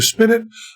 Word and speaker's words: spinet: sugar, you keep the spinet, of all our friends, and just wait a goddamn minute. Okay, so spinet's rhyming with minute.